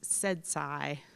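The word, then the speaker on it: CEDSCI: services and consumer innovation which were pronouncing as said Sai for the acronym so this is how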